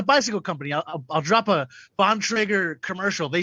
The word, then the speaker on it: Bontrager: Bontrager. Bontrager. Okay, it's a hard T, hard R. Gotcha. I made me flush. I pressed the wrong button. But it's a bicycle company. I'll drop a Bontrager commercial.